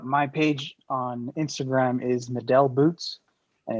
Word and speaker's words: Medel: So my page on Instagram is Medel Boots, and it's MEDEL Boots. You guys say metal, I'm cool with that too.